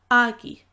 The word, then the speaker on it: agaibh: than one person, you would say Bíodh maith agaibh or Bíodh maith agaibh. Same words, different pronunciations, depending again on the dialect. So let's take that slowly. Bíodh maith agaibh or agaibh.